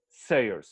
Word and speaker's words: Sayers: Do I pronounce it well? Sayers. Sayers, Sayers.